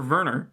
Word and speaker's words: Werner: Yes, Werner, or Werner, actually, is how it's pronounced, because the W's are V's.